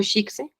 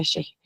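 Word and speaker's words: ch'ixi: Recordé la noción de Silvia Rivera Cosicán, que es lo Shikse, em, pero en realidad es que se pronuncia Sheje, pero bueno, se escribe Shiksi, se pronuncia Sheje.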